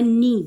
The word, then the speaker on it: knee: माई नी. घुटनों को हम कहते हैं नी. क्या कहते हैं? नी. KNEE. के साइलेंट होता है इसलिए हमें नी पढ़ते हैं.